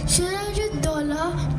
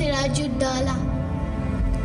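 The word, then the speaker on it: Siraj ud-Daulah: Sirajala tried so hard. Kunal, it's pronounced Siraju Dala. Yes, child. It is Siraju Dala.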